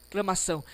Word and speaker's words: exclamação: Olha esse X aqui do exclamação. Não é exclamação. Lá no Rio Grande do Sul, pessoal, no Rio de Janeiro, o pessoal fala exclamação, né? Puxa essa ideia. Mas aqui, o que acontece? Não é exclamação e não é exclamação. E sim, é o s do sílaba, do sapo, certo? É o esse s aqui é um X na escrita, produzindo um fonema, um som de S.